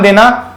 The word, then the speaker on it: the: अब ध्यान देना कि जब भी कभी वावल साउंड होती है, जब भी कभी वावल साउंड होती है, तो द का प्रोनाउंसिएशन द ना होकर के क्या बन जाता है?